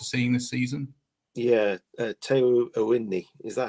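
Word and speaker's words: Awoniyi: Yeah, Teo Owini. Is that how you pronounce it? Oh, good question. We've been debating this. We think it's Awani.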